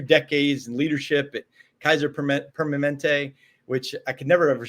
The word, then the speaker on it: Permanente: You know, you spent 2 decades in leadership at Kaiser Permanente, which I could never ever say Permanente. Permanente. I learned how to spell it naturally on a typer.